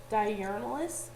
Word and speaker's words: diurnalis: And the word journal is actually a Latin word that is pronounced diurnalis, and it means daily.